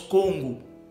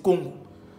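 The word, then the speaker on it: Kongo: Le Congo d'origine, d'ailleurs, se prononce Congo. C'est pas Congo, c'est Congo. Congo qui s'écrit avec un K.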